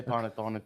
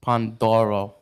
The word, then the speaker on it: pandoro: you use that Pon see this doesn't say ponon this is pandoro and you have to say it right because I did a